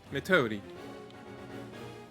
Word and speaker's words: Metodi: Metodi. Metodi. There's trouble to the east. Metodi? It's Metodi, but you pronounce it like you're saying Milady.